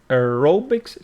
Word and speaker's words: aerobics: the weather lets us aerobics stress on the second syllable equipment and noncount now